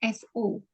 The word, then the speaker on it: saw: Jadi saw-nya itu tulisannya kan memang apa, melihat itu kan tulisannya SAW tapi bacanya SO.